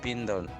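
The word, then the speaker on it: بِنْتٌ: Ini bacanya bintun.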